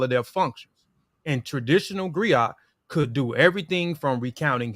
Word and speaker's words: griot: griaca Jolly professional Encompass many roles the griac pronounced Grio um has been referred to as a historian